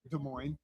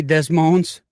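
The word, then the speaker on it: Des Moines: uh homecoming dressing whatever uh how do you pronunciate de mo de mo okay you don't say desmones okay how do you pronunciate kakk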